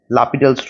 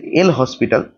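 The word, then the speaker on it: L'Hôpital: হবে তার নাম হচ্ছে লাপিডালস রুল এটার স্পেলিং হচ্ছে এল হসপিটাল এল হসপিটালস রুল কিন্তু এর একচুয়াল উচ্চারণ হচ্ছে লাপিডাল ঠিক আছে লাপিডালস রুল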